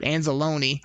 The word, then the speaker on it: Anzalone: I don't know why I said it like Italian just a minute ago, but Anzalone is how it's said.